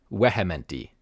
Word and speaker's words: vehementi: so it would be vehementi in classical Latin. But eventually it morphs into the V that we all know with the V sound, so it is vehementi, which is a form